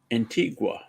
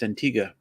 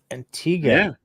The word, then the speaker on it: Antigua: similarly Canadians call an island in the Caribbean Antigua Antigua qu but right you hear any of the locals pronounce it it's Antiga really yeah this I did not know Antiga okay I um I shall now because I'm